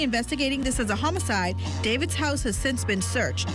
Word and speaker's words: D4VD: Earlier this month, a body was found in a Tesla registered to rising star D4VD, pronounced David, in an impound lot in Los Angeles.